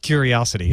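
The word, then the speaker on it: Qriocity: But it's pronounced Curiosity.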